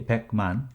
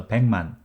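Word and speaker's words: 백만: learned in season 1 when you read pat man in natural speed it becomes peng man kiyok and mim collides each other so pachim gyog sound is morphed into ian slowly you can say pac-man but in normal speed you should read it as a pangman with ian watching now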